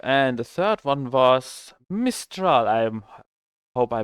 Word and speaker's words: Mistral: And the third one was Mistral. I'm hope I pronounce this correctly.